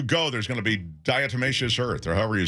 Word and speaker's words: diatomaceous: situation, the kind of homegrown solution, is this diatomaceous. How do you say it? The diatomaceous earth. You know how to say it, Crows, don't you? Diatomaceous?